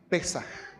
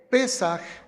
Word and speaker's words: Pesaj: pero la palabra es, algunos lo acentúan en la primera sílaba, vamos a hacerlo así, Pesaj.